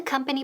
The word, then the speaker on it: company: Esa O suena como que, como una A. All right, company. No decimos company. Company, no. Company.